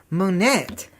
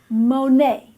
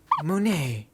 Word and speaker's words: Monet: him Oscar Claude Monet that looks like it says Manette well actually gatsby it's French and in French the et has a long a sound so you pronounce it Monay Monay Monay Monday anyway Oscar